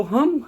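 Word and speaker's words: hymn: है क्या कॉमिनेशन है जहां भी एम और एन का कॉमिनेशन हो जाए एम एन एम एन एक साथ आ जाए तो हम हमेशा ही एन का प्रसन साइलेंट कर लेते हैं जैसे पहला वर्ड है न तो न नहीं मम हाम बोलना है हाम मींस भजन डम ऑटम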